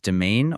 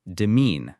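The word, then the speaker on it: demesne: The IPA is domain or demine. The s is silent.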